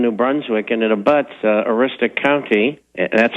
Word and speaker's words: Aroostook: Well, this family was in New Brunswick, and it abuts Aroostook County, that's how it's pronounced, incidentally, in Maine, and they had bought